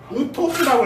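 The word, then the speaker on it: οὕτως: 우리 신학교 출신들 저거 뭐라고 읽어야 돼? 안 물어볼게. 저거는 우토스라고 했습니다.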